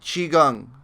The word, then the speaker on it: Qigong: pronounce it I think I said it ki Gong XI Qigong okay so you say it correctly you you can you can do it with a Q people mostly do it with a Q